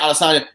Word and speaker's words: Adesanya: Yeah, Adesanya.